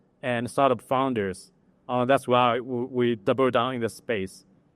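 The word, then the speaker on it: Weee!: That's why we double down in this space. Just to give one example, the best performing company in Fund 1 is called We, which is spelled as EEE.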